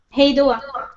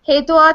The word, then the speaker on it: Hej då: Hej då. Hej då. Awesome. All right. So I'm going to hit stop broadcast. It won't hang up on everybody, but let's say hej då to everybody who's watching.